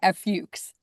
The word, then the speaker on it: Fuchs: How do you pronounce your last name? Tricky one. Fuchs. Fuchs?